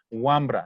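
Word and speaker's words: wambra: más adelante one brown se escribe wanpra pero se escribe se pronuncia guambra nicolás chango su posición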